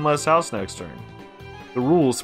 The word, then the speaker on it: Rouxls: The Rouxls, pronounced Rouxls, are simple.